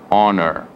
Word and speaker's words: honor: Mais conhecida, hora, hour, herdeiro, que em inglês chama heir, honesto, honest, e honra, honor. Então aqui temos exemplos de 4 Hs que não são pronunciados, são mudos.